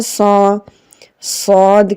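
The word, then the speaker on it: ص: Now Sad is a heavy letter. When we pronounce it, the sound should be heavy, like Sa, Sa. The mouth should be opened upwards and it makes a heavy sound.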